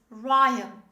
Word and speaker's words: rhyme: in pronunciation this is ryan the h letter of the r is not pronounced this is ryan say